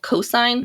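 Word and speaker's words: Cosyne: the main conference is called cosine which is c-o-s-y-n-e uh so not the the mathematical function although now whenever i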